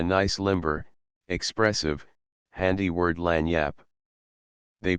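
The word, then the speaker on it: lagniappe: to get a nice limber expressive handy word land Yap they pronounce it Lan Yap it is Spanish so they said we discovered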